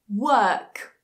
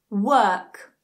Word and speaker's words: work: Work. Work. Notice that the R is silent in British English modern received pronunciation.